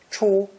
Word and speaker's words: 出: It's pronounced first tone, 出, 出.